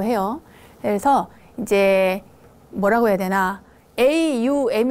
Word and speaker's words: aum: 그래서 이제 뭐라고 해야되나 aum 이라고 해서 이제 옴 이라는 게 a 발음도 있고 유박 되고 앰 발음 되고 다 나옴 헤이스케 안